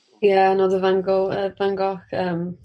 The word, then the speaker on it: van Gogh: another van gogh uh van gogh um i'd never know how to say his name yeah i go van gaal my other one yeah